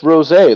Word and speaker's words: rosé: Oh, it's pronounced rosé, like the drink.